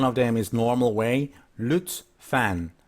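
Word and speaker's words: lütfen: in Turkish one of them is normal way Lutz fan Lutz fan Lutz fan Lutz fan the other one is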